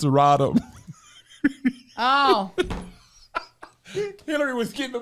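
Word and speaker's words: Rodham: what did I do you said Hillary Rodman Clinton it's rodom oh Hillary was getting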